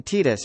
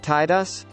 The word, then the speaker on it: Tidus: I acknowledge that Square Enix says it's pronoun Titus but I reject that it's pronounced Tidus why would a character who has